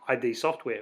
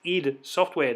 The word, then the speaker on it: id Software: I finished wolf3d that I realized that it isn't in to be pronounced EDA software not ID software so if I slip